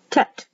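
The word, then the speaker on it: טית: Tet, T-E-T, Y or I, which is pronounced like an E.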